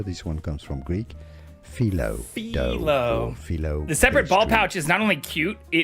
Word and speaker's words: phyllo: Phyllo dough. Phyllo! Phyllo pastry. I have been saying phyllo for a long time. let's learn how to pronounce this name. Philo.